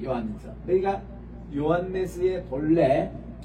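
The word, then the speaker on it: Ἰωάννης: 델타 알파 시그마 이서 유다스 이렇게 되고 그다음 요한네스 이렇게 발음할 때도 보면은 이게 오메가입니다 우리 따라다 오메가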